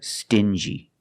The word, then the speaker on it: stingy: differently example dingy and stingy these two words have the regular n Sound plus the J like juice together stin G together stingy or din G together dingy this wall is very dingy